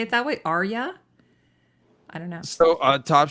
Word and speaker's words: Arya: like, because he says it's Arya, not Aria, like as in the opera. It's Arya, he said. But it sounds weird to say it that way. Arya.